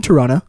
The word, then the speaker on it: Toronto: yeah we live in Toronto they do not pronounce that second T and if you do you out yourself as a non local take that you filthy